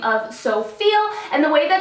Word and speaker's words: SouFeel: I was introduced to by the name of So Feel. And the way that it's spelled out, it looks like So You Feel, which I thought was super clever.